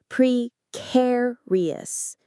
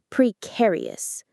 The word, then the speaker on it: precarious: Pre, care, re, us. The stress is on the second syllable, the care part, which sounds like the word care. Precarious. Precarious.